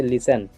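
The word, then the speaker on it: listen: Next हमारा है किसी शब्द का अंतिम अक्षर अगर टी ई एन हो तो टी प्रायः साइलेंट होता है। ठीक है, मतलब अगर टी के आगे ई एन हो तो वहाँ पे हम क्या करेंगे, टी नहीं बोलेंगे।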